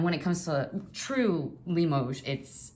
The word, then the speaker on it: Limoges: Limoges, by the way, has an S on the end when written. I think that showed on that little stamp there. It probably shows on both stamps. But it's pronounced Limoges as if it doesn't have an S.